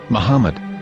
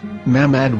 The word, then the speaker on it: מחמד: can be read as Muhammad, which is the name of the Muslim prophet, or as Mamad with no A after the H.